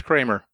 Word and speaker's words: Kremer: And how did it become pronounced Kramer with with an A instead, but yet it's spelled with an E? Well, it is my understanding. It is the German pronunciation, the typical, appropriate German pronunciation.